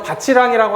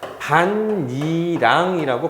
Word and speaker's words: 밭이랑: 그래서 밭이랑이라고 하지 않습니다. 써줄게. 이거 아니에요. 이게 아니라 나중에 배우겠지만 반니랑이라고 발음을 하게 돼요.